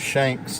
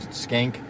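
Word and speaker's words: Schenck: and him and Joseph shanks thanks skank is how he pronounces his name he was kind of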